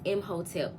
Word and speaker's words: Imhotep: I call them Hoteps, HOE-TEP. But the correct pronunciation of it is Imhotep, which is Egyptian energy from the third dynasty.